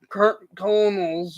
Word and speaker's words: Colonels: the 1895 Louisville coal Colonels or kernels I think it's pronounced 192 in percentage in